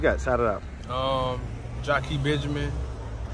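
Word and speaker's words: Jakie: so the Jackie that's basically almost like Jackie basically but just pronounce Jackie yeah we're out to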